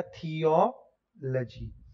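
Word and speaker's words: theology: यानी कि लजी से पहले वाला जो सिलेबल है उसके ऊपर आपको स्ट्रेस रखना है और लजी की प्रोनाउंसिएशन गुपचुप में छोटी सी कर देनी है, लजी, न लोजी, न लॉजी, न लॉजी, न सॉजी, कुछ नहीं, सीधा लजी।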